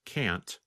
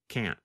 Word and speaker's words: can't: In the pronunciation video of Lesson 20, you can hear Pete first pronounce can't with the letter T. And then the next time, you hear him pronounce it with the held T, can't.